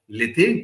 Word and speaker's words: Lethe: In Greek mythology, river Lethe or Leth is a river of forgetfulness. You can pronounce it either way.